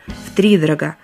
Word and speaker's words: втридорого: У наречия, характеризующего покупку чего-либо по завышенной цене, есть только один правильный вариант ударения – втридорого. То же самое касается и антонима этого слова – втридешево. Хотя в речи оно встречается, увы, заметно реже. Запомнить постановку ударения поможет числительное «три» с его единственной гласной «и». Она-то тут и будет главной.